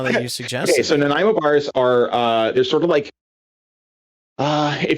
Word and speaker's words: Nanaimo bar: I have no idea how to pronounce this. Nanaimo bar?